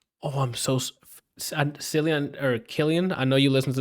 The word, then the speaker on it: Cillian: His name's pronounced Killian. Oh, I'm so Cillian or Killian.